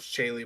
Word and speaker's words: Chaye: cover something yeah yeah the name's pronouned chaye by the way who is chaye it's